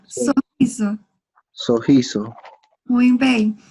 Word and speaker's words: sorriso: O sorriso. Sorriso. Muito bem. Doble R, em português, se pronuncia como roupa.